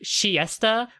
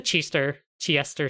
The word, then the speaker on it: Chiester: In Japanese, it's pronounced like Siesta, which, like, in early translations, they were actually, their name was translated as the Siesta sisters, like, like taking a siesta. But no, they're the Chiester sisters.